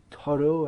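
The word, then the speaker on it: Thoreau: i believe and henry toro i believe that would be pronounced in french it's originally a french name so these are respected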